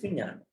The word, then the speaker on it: Vijnana: Vijnana. Have you heard about this? Somebody writing here. Chan, WH. Found it. You nailed it down. Vijnana. What is Vijnana? What is Vijnana? Mano, Chitta, Vijnana. What is Vijnana?